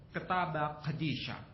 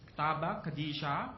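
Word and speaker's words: ܟܬܒܐ ܩܕܝܫܐ: PB dalam bahasa Suryani ini bacanya ketaba qadisah ketaba qadisah bahasa Arabnya alkitabul muqaddas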